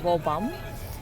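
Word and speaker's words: Woburn: to wall bomb whole burn actually but they pronounce it as well bomb and then we're gonna get off in Clark's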